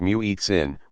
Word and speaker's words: muezzin: daily times for salad the muezzin pronounced mu eats in makes the call using